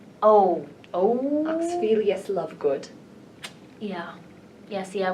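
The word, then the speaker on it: Xenophilius: Yes, How do you even pronounce his name? Oh. Oxphelius Lovegood.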